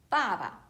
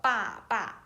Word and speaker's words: 爸爸: So read the first one, the father, 爸爸. It's not the 爸爸, it's a 爸爸.